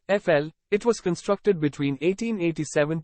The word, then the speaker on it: Eiffel: France you should know La Tour Eiffel pronounced FL it was constructed between